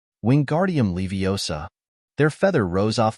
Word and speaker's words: Wingardium: having much more luck wingardium leosa he shouted waving his long arms like a windmill you're saying it wrong Harry heard Hermione snap it's wingardium Leos make the guard nice and long you do it then